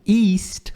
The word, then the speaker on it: east: O east, pronuncia assim, ó, I-S-T. East, é um izinho longo.